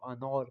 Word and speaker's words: انار: انار کا جو الف ہے اس کو تھوڑا گول کر کے موٹا کر کے فارسی زبان کے لہجے میں پڑھا جاتا ہے. اردو میں ہم انار کو انار بولتے ہیں لیکن جب اس کو فارسی لہجے کے اندر استعمال کریں گے تو انار پڑھیں گے.